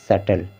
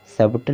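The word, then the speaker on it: subtle: इसके बाद है यहाँ पर सटल, सबटल नहीं पढ़ना, सटल।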